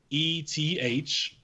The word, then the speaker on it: Nemeth: I believe I'm pronouncing it correctly. It's Nemeth.